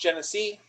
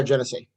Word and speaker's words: Genesee: This is it's pronounced Genesee. Yeah, Genesee.